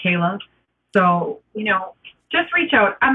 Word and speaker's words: Kaile: Kaile is how you spell it, and it's pronounced Kaile.